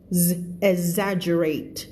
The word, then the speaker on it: exaggerate: ไป อ่า อวด เวอร์ exaggerate ออก เสียง ว่า exaggerate นะ จ๊ะ ตัว G ไม่ ออก เกอะ นะ เสียง สั ๆ นิด นึง yes i rely too